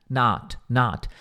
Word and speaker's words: not: Not. Não é nó, não é um O, tipo, not. É meio que um A. Not.